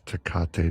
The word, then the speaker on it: Tecate: It's Tecate, not Tecate.